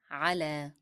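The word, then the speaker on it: على: On in Arabic means ala. Ala. This word is ending in ya. However, when I was saying the word, it sounds like alif.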